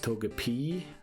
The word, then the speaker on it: Togepi: so we'll look up togepi's name quickly uh in Japanese it's probably is Togepi as well it is toep p like a long e at the end let's see toep and